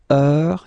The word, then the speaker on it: heure: All right, so heure, you write it like that. Remember, H is not pronounced, okay? So it goes like heure.